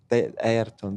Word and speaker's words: Ayrton: So Milton, have I pronounced that right? Milton. Milton. Milton. But Milton and Ayrton. Ayrton.